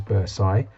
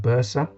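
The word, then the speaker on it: bursa: is the the Bersa sometimes you might hear it described or pronounced as Bai but Bersa is what I say and that's this cushioning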